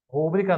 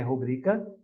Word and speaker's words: rubrica: Púdico, pudico não é púdico, rúbrica não é rubrica, não é rúbrica, é rubrica.